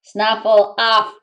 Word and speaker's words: Snuffleupagus: so it's a whoa snuffle off not puggis but his name spelled with a p yet we heard it with an f i come from here